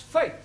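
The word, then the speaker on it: fete: to the e now the letter e is usually pronounced a bet set get there are of course exceptions to the rule for example f e t e is also pronounced faith hi moving on to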